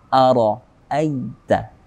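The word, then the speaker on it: أَرَأَيْتَ: Aita, ada fathah bertemu dengan ya mati, dia masuk ke dalam hukum tajwid mad lin atau mad layyin. Layyin artinya lembut, maka kita bacanya dengan lemah, lembut. Ara'aita alladhi, ada dzal kasrah bertemu dengan ya mati.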